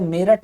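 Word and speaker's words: Meerut: लेकिन इंग्लिश में ये मीरुट है। अगर अंग्रेज इसको पढ़ेगा तो वो इसको मेरठ हरगिज नहीं पढ़ेगा, वो पढ़ेगा इसको मीरुट, मीरुट। मीरुट भी नहीं पढ़ेगा, मीरठ।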